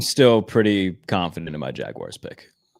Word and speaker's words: Jaguars: Anytime that somebody says Jaguars like it's spelled J A G W I R E S.